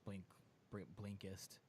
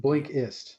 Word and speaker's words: Blinkist: And I'm pulling the app up now so I can actually spell it out for y'all. I got it. It's blink. It's just Blinkist. B. Blinkist. Yeah. Blinkist.